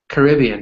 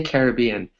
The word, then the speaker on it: Caribbean: is more American but you can also say Caribbean both of them are 100% correct sometimes in English we